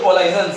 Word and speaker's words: collision: ड्यू टू कोलाइजन, COLLISION, बहुत लोग कोलिजन इसको बोलते हैं, लेकिन प्रॉपर प्रोनाउंसिएशन कोलाइजन है।